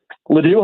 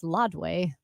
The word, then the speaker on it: Ladue: Not at Ladue, though. Which, by the way, my GPS pronounces as Lodway. Lodway.